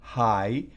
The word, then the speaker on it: high: High, fíjense que esa GH no se pronuncia, no es high, no es high, no, high, significa alto, cosas altas, high, cosas altas.